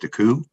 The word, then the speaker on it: Deco: submitted were mcphail halpin deco which is pronounced daku lucas graham dell and